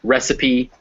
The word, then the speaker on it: recipe: So recipe, cafe, or Persephone, the Greek goddess of spring, those words all have you pronounce the E.